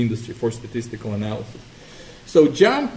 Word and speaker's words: JMP: tell you really quickly jump JMP I just just pronounced jump okay stands for John's